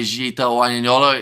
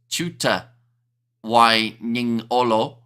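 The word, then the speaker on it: Jiuta Wainiqolo: However, there, Jita Wanyanyolo is pronounced Chuta Wanyanyolo, says Trust.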